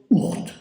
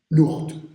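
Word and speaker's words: Ourthe: de l'époque qui s'appelle je le prononce à peu près correctement comme ça devait se prononcer à l'époque ourt l'ourt même à Bruxelles ça dit peut-être vaguement quelque chose bon mais vous connaissez sous l'orthographe o ur R th e bon c'est la rivière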